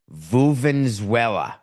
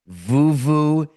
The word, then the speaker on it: vuvuzela: Vuvenzuela. Does that word mean anything to you? What is it called, Coca? Vuvuzela.